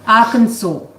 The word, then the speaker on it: Arkansas: Arkansas. You're thinking of Kansas. Well, it says Arkansas. No, you don't say It's spelled Arkansas.